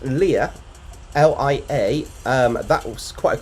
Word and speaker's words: Lia: We have, I believe it's pronounced Lia, L-I-A.